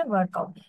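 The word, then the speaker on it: Virchow: ওনার উচ্চারণ হচ্ছে ওয়ার্কআউ।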